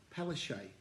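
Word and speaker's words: Palaszczuk: uh the queensland premier anastasia palestine apparently that's how you pronounce the name has called in the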